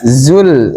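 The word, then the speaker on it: زلزلت: Zainya dikatir zai. Zai za zul zul bukan zul zul zul. Idza zulzilatil zuza. Jadi untuk membedakan dengan jim ya. Jzjilatil kayak seperti jim atau tengah-tengah gitu.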